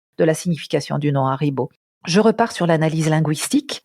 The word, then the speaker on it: Haribo: C'est que c'est un nom qui est composé de 3 syllabes. Haribo, 3 syllabes.